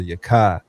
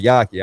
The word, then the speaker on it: Yakai: His name is Ashley pronounced Dr. Yakai. He said that himself, but he was like, "Man, so many people call me Yaki."